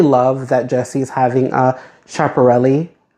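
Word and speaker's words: Schiaparelli: And I personally love that Jesse's having a chaparelli, right? that's how you pronounce that era because the brand is currently the go-to for just art and fashion.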